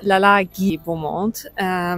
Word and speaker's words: Lalage Beaumont: I had the loveliest time at, okay, let me try to pronounce it correctly. I did ask. It's Lalage Beaumont.